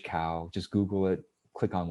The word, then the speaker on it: Kao: google my name cao the last name is spelled k-a-o like dao right dao it's tao but yeah k-a-o is my last name with a k cow just google it click